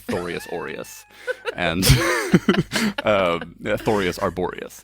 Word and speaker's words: Thorius: So they're like Thorius aureus and Thorius arboreus. Those Thorius kinds of like Gregorius.